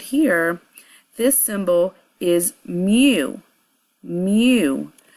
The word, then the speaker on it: mu: And this symbol right here, this symbol is mu. Mu. So it's, it's pronounced in, it's pronounced myu, and it is the